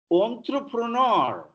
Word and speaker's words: entrepreneur: Entrepreneur, French word it is like enclave, en route, entrepreneur.